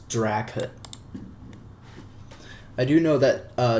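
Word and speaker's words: dracut: add that install Colonel draut who the hell calls this uh drao drao no it's draut I do know that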